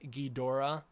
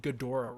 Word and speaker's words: Ghidorah: So in Japanese, the word is pronounced Ghidorah. It's Ghidorah. Well, I said it weird because my throat's all scratchy, but it's basically when the Japanese say it quickly, they say Ghidorah, right? So a lot of people think, oh, the common, the real pronunciation is Ghidorah. It's not necessarily that. It's a lot more enunciated in the actual Japanese.